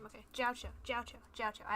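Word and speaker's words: Jiaoqiu: Jiao Chou, that's how you say his name, okay. Jiao Chou, Jiao Chou, Jiao Chou.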